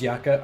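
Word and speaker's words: Jaka: we've got Jan yaka is it yaka or Jacka let me assume it's also yaka and nates does anyone have the intel on the name pronunciations it is yaka all right good deal all of the J names without pronouncing the J I can respect it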